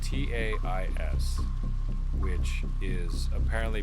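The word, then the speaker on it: Taís: Spelled T A I S, which is apparently pronounced Tis. Tais.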